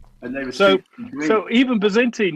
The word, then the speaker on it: Byzantine: they were so even bazentin you've got to say it with a Greek accent yeah but then actually they it's actually spelled with a V for victory as well